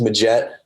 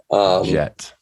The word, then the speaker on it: Midgette: And then, just kind of give me a little overview, like who is, and pronounce your last name for everyone, please. Last name is Midgette. Midgette.